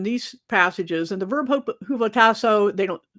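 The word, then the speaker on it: ὑποτάσσω: And the verb hupotasso, I'm pronouncing H here because that's the way it is in the Greek.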